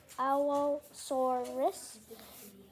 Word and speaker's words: Allosaurus: But super sad name Allosaurus, pronunciation Allosaurus, name meaning different lizard, period Jurassic, diet carnivore, length 34 feet down, 10.5 meters, weighed 5,000 pounds, 2,300 kilograms.